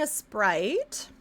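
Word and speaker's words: Aseprite: We're using a Sprite. It's spelled like, kind of like this up here.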